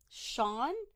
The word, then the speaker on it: Sion: it's the Welsh version of John. Oh, okay. So it's spelled Sion. It says right here, pronounced in English identically to the Irish name Sean.